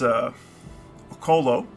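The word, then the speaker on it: Occlo: We've just arrived at Trinsic, our blacksmith apprentice having completed their induction into the Smithy Federation in, I believe it's Okolo. That's the way you're meant to pronounce it, according to some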